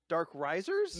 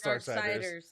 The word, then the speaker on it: Darksiders: Dark Risers? No, it's Darksiders.